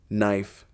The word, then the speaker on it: knife: The silent K. You know the ones knife, knee, nave. They all start with that mysterious K you never pronounce like a ghost letter haunting the word.